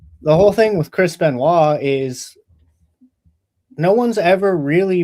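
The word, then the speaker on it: Benoit: I don't know anything about the the uh Chris Benois. Is that right? Yeah. Okay. So, I'm going to do some research. It's spelled French though. It's B E N O I T.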